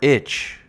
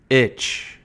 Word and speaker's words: itch: Think about it like the letter B and then the word itch. Right? The T is silent in the word itch. Itch.